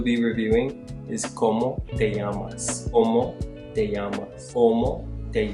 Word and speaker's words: llamas: While we're here, let's review the pronunciation of the double L in Spanish. While the pronunciation may vary from one region to another, it's generally accepted as a similar pronunciation to the letter Y in English.